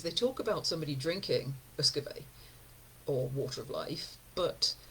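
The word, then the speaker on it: uisce beatha: It's aquavit in Scandinavia, eau de vie in France, Uscabe, I looked up how to pronounce this, Uscabe in Gaelic, which is the word that in the 18th century is simplified to whisky.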